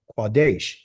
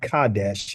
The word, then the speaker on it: Kadesh: a letter K called cadesh but it's really quades it's not it's not Kadesh it's quades that's the true um pronunciation that's the true letter it's a q not a k um the English and